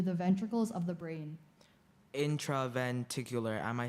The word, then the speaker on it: intraventricular: and bled into the ventricles of the brain intraventricular am i saying it correctly no it is intraventricular can you repronounce it intraventricular intraventricular intraventricular intraventricular that sounds